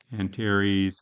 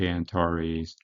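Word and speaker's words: Antares: Meridian that's another one sometimes people say differently anares some people say antaris doesn't really matter um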